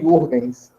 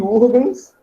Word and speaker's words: Huygens: Eu não sei bem pronunciar o nome dele, cada uma pessoa pronuncia de um jeito. Eu falo Huygens, tá?